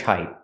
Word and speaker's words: height: He was average height, about 5'9". He was average height. We hear the T in height pronounced as a stop T. Not height, but height.